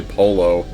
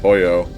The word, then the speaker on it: pollo: Like, whenever I hear somebody say polo instead of pollo.